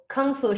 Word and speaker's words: Kung Fu: Kung Fu should be pronounced in Mandarin, Kung Fu.